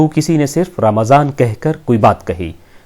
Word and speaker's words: رمضان: یا چلا گیا۔ ماہ رمضان اسلامی کیلنڈر کا 9واں مہینہ ہے جس کا صحیح تلفظ رمضان ہے۔ اس کی ادائیگی کے